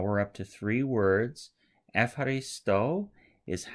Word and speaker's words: ευχαριστώ: But we now know that a Greek would pronounce this Ευχαριστώ, and this means thank you.